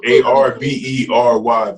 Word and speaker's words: Arbery: It's like Arterbury or Ardbury. Yeah. Arbery, but his first name is Ahmaud.